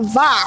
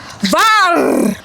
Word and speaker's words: VAR: Okay, for the next word, this is what we call VAR. What? Say it with me. You have to roll your R's Show like that. VAR.